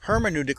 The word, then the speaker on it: hermeneutic: hermeneutic reading and introduction hermeneutic reading go ahead you can pronounce it herman udik hermann utic hermeneutic hermeneutic